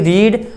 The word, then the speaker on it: read: तो रीड, रेड, रीड, तो रेड की स्पेलिंग भी यही होती है, RED मत लिखिएगा।